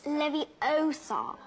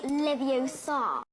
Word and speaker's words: Leviosa: someone's eye out besides you're saying it wrong it's Levi Oar not leviar number 28 Hagrid's love